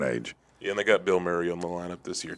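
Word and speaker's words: Bilmuri: No, there's a there's a band called Bill Murray, but it's spelled B I L M M U R I.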